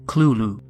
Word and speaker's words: Cthulhu: pronounce it however Lovecraft wrote that the closest pronunciation is clulu unlike most horrific creatures these entities do not